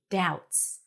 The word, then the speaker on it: doubts: No B, doubts.